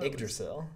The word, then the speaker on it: Yggdrasil: a lot of pieces recently that are, I guess, somewhat programmatic, like Yggdrasil Highway, which I still don't know how to pronounce, even though Yggdrasil.